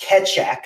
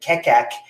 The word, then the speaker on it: Keccak: thank you Guido for correcting me that it's pronounced ketch Shack I've been pronouncing it Tech AK for months and months and so now I